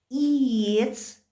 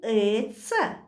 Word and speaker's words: иец: Санан, сун, компьютер, иец, ле. Послушайте внимательно. Как я произнесла слово «купить»? Иец. Не эца.